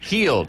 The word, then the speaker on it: Hield: his name correctly, but Buddy Hield, if I pronounce that correctly? Buddy Hield. Hield, okay.